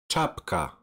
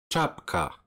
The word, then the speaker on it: czapka: Next is the combination of c and z, and you should pronounce it as ch, ch, like czapka, czapka.